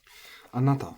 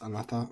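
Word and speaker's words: あなた: Anata, for you, is nakadaka, but it can also be pronounced anata by natives sometimes.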